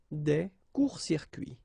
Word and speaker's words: des courts-circuits: Un court-circuit, un court-circuit, same thing, des courts-circuits, des courts-circuits.